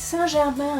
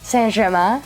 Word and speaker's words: Saint Germain: It's Saint Germain. Oh, see, that's where my pronunciation is wrong. Saint Germain.